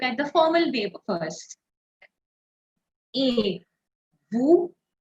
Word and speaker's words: et vous: So this is like the English alphabet A.